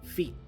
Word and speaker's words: feet: and then our feet the T for feet is not really fully pronounced this is a stop T again so I say feet feet right under our